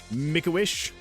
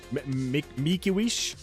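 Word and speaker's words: Mickiewicz: So, Adam Mawish, Mikuish, something like that. Uh like the foundation that gives stuff to bald children.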